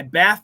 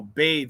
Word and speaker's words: bathe: thank you excellent book I bath the dog no bathed it has to be a verb uh b-a-t-h-e I bathe the dog and the th is not reduced nope uh I'm home